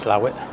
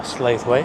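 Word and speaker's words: Slaithwaite: they went over to slow it or SLA we as we would say in Lancashire I worked in there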